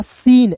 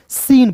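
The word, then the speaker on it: scene: silent करना है तो एस का स लिख दीजिएगा और देखिए इ जो है दोस्तों इसका उच्चारण इ के रूप में करना है एन का न हो जाएगा और अंतिम में आया इ साइलेंट होता है तो हो जाएगा सीन एस सी ई एन ई सीन पढ़ेंगे क्लियर है फिर देखिए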